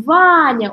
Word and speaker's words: Ваня: Смотрим, Ваня, ударение на первый слог, второй безударный, да?